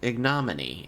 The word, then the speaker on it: ignominy: It's either ignominy Mhm. or ignominy. And for some reason, the m in the second one, which has na, is the emphasized. No, it's ignominy. Ignominy, yeah. So the way I said it is one of them, but ignominy is the pronunciation one.